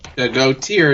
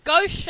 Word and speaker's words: Gaucher: Did I pronounce it right? Oh well, whatever. It's Gaucher. I just said it too. See, Sorry, I've been drinking. I thought it was Gautier, No, it's Gaucher. personally. It's French.